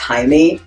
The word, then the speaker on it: Hiame: And my last name, Hiame, but I always tell people it's pronounced Jaime, like Jamie in Spanish.